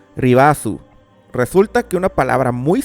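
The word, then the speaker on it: リバース: La palabra Reverse en katakana se escribe como sigue y más o menos se pronuncia Ribazu.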